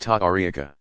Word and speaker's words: tariqa: Spiritual guides of the various Sufi organizations called orders or paths, tariqa, pronounced ta'ariqa.